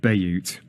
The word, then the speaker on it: Bayut: Thoughts there of Fibha Ahmed, Director of Sales, deep breath so I say it properly, Dubizzle and Bayut.